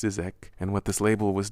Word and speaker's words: ZZK: Around that same time, I started hearing about a record label in Argentina called Zizek, spelled ZZK but pronounced Zizek, and what this label was doing was called digital cumbia.